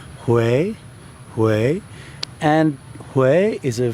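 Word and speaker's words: Huế: Hue in central Vietnam, spelt H-U-E and pronounced Hue. As you may recall in our previous lesson, you follow the line. So in the case of Hue, it goes up, so you go up.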